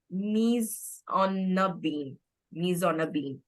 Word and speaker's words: mise en abîme: So the structure of this book is called as this is a French term which is pronounced as mise en abîme, and it's a literary